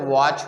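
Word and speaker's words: watch: सारे एग्जांपल है दोस्तों जैसे वच हो गए वच में भी हम सीच को नहीं पढ़ रहे हैं दूसरा एग्जांपल हम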